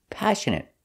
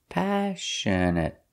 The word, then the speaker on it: passionate: first example is passionate passionate stress is on a first syllable passionate the next two syllables are pronounced the same uh passionate passionate means you're full